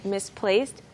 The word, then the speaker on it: misplaced: 오늘 살펴볼 부분 은 "misplaced my" 인데 , 여기 서 "misplaced" 의 "d" 는 "t" 발음 처럼 들립니다 .